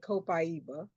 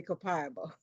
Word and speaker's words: copaiba: And I think uh Brazilians say it copaiba. Americans say copiba usually, but uh you weren't exactly wrong.